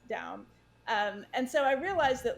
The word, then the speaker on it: Daum: casual conversation said, well, your name is Daum. It's not Dom.